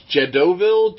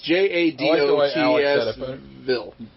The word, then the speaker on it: Jadotsville: The Siege of Jedoville. It's Jadotsville. How do you say it, Alex? Jarrettsville.